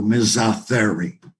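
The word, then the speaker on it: misothery: like a racist term it comes from two Greek words the first syllable missile was in misogyny which is contempt for women and ethereal is the Greek root word for animal t-h-e-r-i-o so misotheri I'm gonna use it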